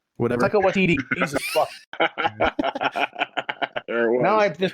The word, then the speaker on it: Taika Waititi: Yeah, they actually bring back all 3 of those guys from the movie, and Takiti Wakatiki. Whatever. Taika Waititi.